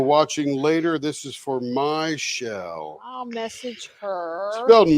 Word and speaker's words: Michelle: If she happens to be watching or watching later, this is for Michelle. I'll message her. Spelled Michelle, but it's probably pronounced Michelle. Not shell, it's my shell.